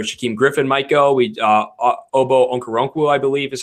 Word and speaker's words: Okoronkwo: Obo Okoronkwo, I believe is how you pronounce his name, out of Oklahoma.